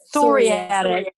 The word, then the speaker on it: psoriatic: Psoriatic. Sorry, I'm going to say psych, like psych. It's psoriatic. Psoriatic arthritis affects the skin